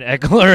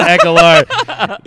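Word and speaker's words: Ekeler: we got echoler and i'm making sure i'm saying eckler as opposed to echolar dan wilkenstein was the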